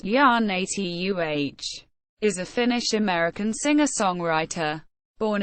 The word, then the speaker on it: Janita: Janita Maria, YA-nee-tuh Raukko, born the 28th of December 1978, better known by her stage name Janita, pronounced YA-nee-tuh, is a Finnish-American singer-songwriter.